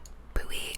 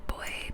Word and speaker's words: buoy: Do you pronounce it buoy or boy? Because I pronounce it buoy, but my husband pronounces it boy.